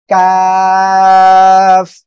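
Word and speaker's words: ك: ওকে, এই যে কাফ অক্ষরটা, কাফ অক্ষরটা উচ্চারণ হবে জিব্বার গোড়া থেকে একটু আগে বাড়িয়ে তার বরাবর উপরে তালুর সঙ্গে লাগে উচ্চারণ হবে, ঠিক আছে? এটা ছিল কি, কফ, তাই না? আর এটা হবে কাফ। সবাই একসাথে বলেন, ওকে।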